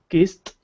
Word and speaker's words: kissed: It's pronounced like a T. For example, talk and talked, walk, walked, love, loved, cough, coughed, kiss, kissed, brass, brassed.